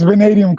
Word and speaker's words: Vanadium: How do you pronounce that, man? It's Vanadium Comics.